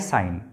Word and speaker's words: sine: সাইন। Clear? SINE, সাইন। কিন্তু এটাকে short ফর্মে লেখা হয় কি? SIN। তা বলে অনেকে কিন্তু ভুল করে সিন সিন উচ্চারণ করিও না। ক্লিয়ার? এটাকে বলা হয় সাইন, SIN, সাইন।